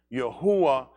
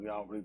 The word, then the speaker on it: Yahuwah: Yahuwah, they'll put Yahweh, they pronounce Yahweh, but Yahuwah is the existing one.